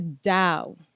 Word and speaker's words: Tao: They're like, no, it's Dow. What? It's a D.